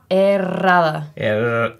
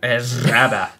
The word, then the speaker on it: Herrada: Herrada. You've got to roll your R's. If you can't roll your R's, then you can't. Herrada. Herrada. It's 2 R's.